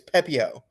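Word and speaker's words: Pepiot: What about Ryan Papi? I know you're fucking with me right now, but it's still the most infuriating thing. It's Pepio. No, it's The T Pippi. is silent.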